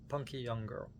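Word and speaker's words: Punkyoungirl: Smooshed together into one word, Punky Young Girl. You leave out a letter or two. You know, you pronounce it punky young girl. But it's like punk young. No second G one G.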